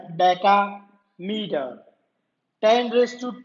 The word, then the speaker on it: decameter: It's not dam, you can't pronounce it like dam, decameter.